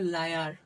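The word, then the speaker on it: liar: এইরকম শব্দে আমাদের আই এর উচ্চারণ হয় আইয়া, আইয়া। যেমন এটা কি আছে, লাই আ, লাই আর, লাই আর, এল মানে লো, আইয়া মানে লাইয়া, আর আর মানে কি রো, তোমার লায়ার বা লায়ার, লায়ার।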